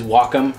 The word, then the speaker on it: Wacom: It is a Wacom Cintiq 12, and it is Wacom. I called them to ask for pronunciation, but it is the smallest LCD tablet they make.